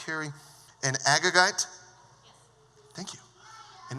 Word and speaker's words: Agagite: probably because he is uh how is it pronounced Carrie an agagite thank you an agagite which is mortal enemy of the Jews isn't